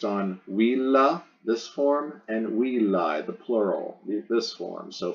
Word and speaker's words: villae: Here's the genitive singular, goes in the genitive singular blank as villae. You chop off the AE pronounced I to get the stem, will.